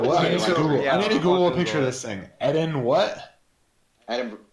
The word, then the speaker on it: Edinburgh: Edinburgh. It's EDIN. Yep. Burr. Okay, Edinburgh.